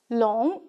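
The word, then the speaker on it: 龙: This one is pronounced as long, meaning dragon.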